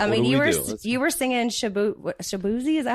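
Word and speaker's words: Shaboozey: I mean, you were singing Shabuzi.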